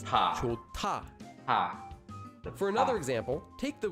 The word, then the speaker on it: 좋다: There's a hyut at the bottom of the first syllable, and it's followed by a tigut. So the digut changes into a tiut. This becomes pronounced as 좋다.